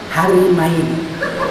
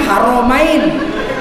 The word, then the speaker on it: Haramain: Raja Salman Khadim Harimain selamat datang penjaga dua istri. Dia pendaga kota suci. Khadim haramain. Dibaca khadim harimain.